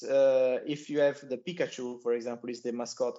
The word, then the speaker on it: Pikachu: localization simply because uh if you have the Pikachu for example is the mascot of Pokemon and if it is mispronounced as pekachu then it is a direct impact on the